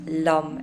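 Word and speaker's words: Lam: that can be used is Lum l a m pronounced Lum l u m funnily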